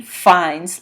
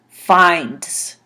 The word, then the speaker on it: finds: She finds lots of trash in the street. Finds. Finds. So it makes a z sound at the end instead of a s sound.